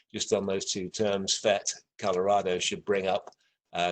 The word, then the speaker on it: PhET: many of you are aware of the the fets uh i'm gonna try and do this now